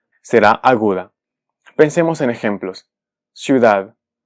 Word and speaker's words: ciudad: Ciudad. Ciudad. Esta palabra termina en D. Y su sílaba tónica es la última, es decir, es aguda.